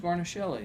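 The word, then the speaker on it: Guarnaschelli: We don't know how to pronounce her last Alex name. Garnishelli.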